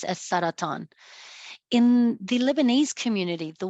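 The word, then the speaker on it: سرطان: is the Arabic word for cancer, which is pronounced as saratan.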